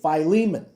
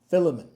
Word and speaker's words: Philemon: So, if you're in front of the camera, you say Phileiman. If you're behind the camera like someone I know, you say Filament. But I'm your pastor. This is how you say it. Phileiman. Don't say it like John. Filament. No. Phileiman.